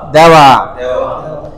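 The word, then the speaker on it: では: দেওয়া দেখতে দেহা তাই না দেখতে দেহা কিন্তু উচ্চারণ হবে কি দেওয়া দেওয়া দেপাতো দেপাতো দেমাস ওৎসুরিগা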